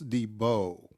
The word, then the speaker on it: DeBow: III all right ladies and gentlemen Mr Debo I'm I'm pronouncing that right Debo right yes sir yes sir he's the uh